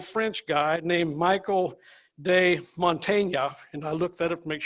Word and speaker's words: Montaigne: 500 years ago, there was this little French guy named Michael de Montaigne, and I looked that up to make sure I'm saying it right, Mr.